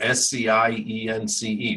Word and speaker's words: science: S-C-I-E-N-C-E, right? Science. Well, how do you know that the C is silent in that word, but not silent in school, right?